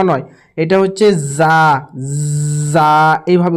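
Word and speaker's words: ز: পড়ি কিন্তু এটা জ ন নয় এটা হচ্ছে যা এভাবে উচ্চারণটি হবে সিন এটি হচ্ছে ছোট সিন সামান্য পরিমাণ সিন আর এটি হচ্ছে বড়শিন আমি গোল দিয়ে দাগ দিয়ে দিচ্ছি।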